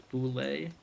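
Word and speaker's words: bulette: I believe the pronunciation that was given to me was boule.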